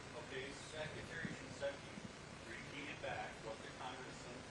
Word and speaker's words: Shinseki: At that time, it was Secretary, how do you pronounce it? Secretary Shinseki. Okay, Secretary Shinseki repeated back what the Congressman asked, what exactly the law meant.